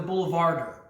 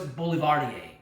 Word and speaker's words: Boulevardier: and it's called the Boulevardier or the Boulevardier, depending on how you pronounce it. I like the French pronunciation, so it's Boulevardier.